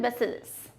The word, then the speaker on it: bacillus: lot of twists and turns is The Stolen Bacillus. Okay, the pronunciation is bacillus.